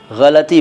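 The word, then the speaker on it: ग़लती: चढ़ जाते हैं और कहते हैं गलती नहीं गलती बोलो गलती बात उनकी सही है वह गलत नहीं कह रहे हैं सही शब्द या यह कहूं कि इस शब्द का सही उच्चारण गलती ही है गलती नहीं है लेकिन आमतौर पर गलती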